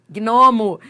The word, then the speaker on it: gnomo: Gnomo, gnomo, gnomo. É só pronunciar. Você vai ver que você pronuncia os dois.